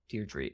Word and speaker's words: Deirdre: keep making that mistake super British name Deirdre he's probably still spelled the same as Deirdre but they say Deirdre dear tree okay thank you for